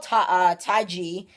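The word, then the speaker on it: TaiG: But it was called Ty-G, and basically that's the way to pronounce it in Chinese.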